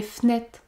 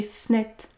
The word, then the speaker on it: fenêtres: Dans ce cas, j'ai supprimé le E du mot fenêtre car il y a une seule consonne prononcée devant. F. Les fenêtres, les fenêtres.